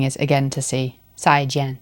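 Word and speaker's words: 再见: 再见. Both of them falling tone.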